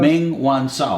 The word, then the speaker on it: Meng Wanzhou: Just for our viewers to know, how do you pronounce it, Ross? Meng Wanzhou.